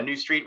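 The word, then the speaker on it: Neustreet: ceo and founder of new street uh that throws people loop how to spell that so it's n-e-u-s-t-r-e-e-t so new street which is a media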